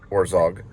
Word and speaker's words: Herzog: This was a story that propelled Herzog, that's how you say his name, it propelled him into the spotlight of fame.